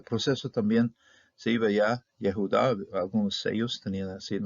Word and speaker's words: Yehudá: De 3 sílabas, Judá, Judá, Judá. Curiosamente, entre sellos, ese proceso también se iba ya, Yehudá, algunos sellos tenían así el nombre completo, otros